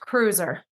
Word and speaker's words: Kreuzer: It's pronounced cruiser. Cruiser. Michelle Cruiser who works with people with disabilities.